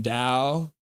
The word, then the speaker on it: Tau: Rod, the T in Tau is pronounced more like the D in Mandarin. Dow.